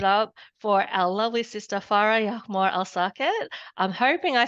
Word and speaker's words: Farah El Saket: please give it up for our lovely sister far Yore alake I'm hoping I said your name correctly far